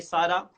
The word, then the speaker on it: सारा: Boss, सारा SAARA सारा. Sara, प्यार.